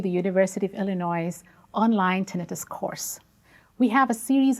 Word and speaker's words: tinnitus: Tinnitus, I should mention here briefly, can also be pronounced as tinnitus, but I have chosen to call it tinnitus, and this is what I will continue using this term throughout these lectures.